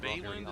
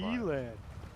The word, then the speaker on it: Beeland: Last name's Bayland? Is that how you pronounce it? 205. Beeland. Beeland. Okay.